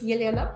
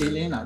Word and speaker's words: Yelena: So my name is Yelena, and So it's not Elena, it's Yelena? it sounds like Yelena.